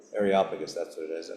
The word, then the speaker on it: Areopagus: meeting place, I don't know how to pronounce these things. What's it? Areopagus. Areopagus? Areopagus. Areopagus, that's what it is.